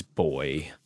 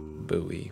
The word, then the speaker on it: buoy: Because, like, it's a play on words, because, you know, buoy, how Americans pronounce it wrong. It is boy. Don't pronounce it buoy.